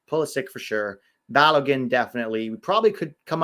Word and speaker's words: Balogun: Yeah, Balogun kind of rhymes with Caroline.